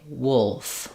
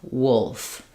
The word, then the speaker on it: wolf: that accurate uh vowel so if I can say wool then I can add my f sound and say wolf wolf um another word spelled